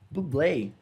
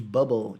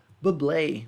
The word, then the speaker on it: Bublé: as pessoas falam sobre o nome dele tipo chama ele de bobo tipo bolha ou então do balé e o negócio assim meio errado mas é dublei mesmo que pronuncia blue em